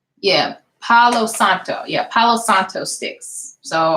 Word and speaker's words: Palo Santo: now what I'm using to it's age and pelos octo sticks and I said it right yeah Palo Santo yeah Palo Santo sticks so I've been burning